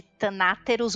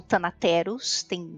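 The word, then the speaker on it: Thanateros: Muito bem, a IoT, ou a sigla para Iluminados de Tanáteros ou Tanateros, depende de como você quer pronunciar isso.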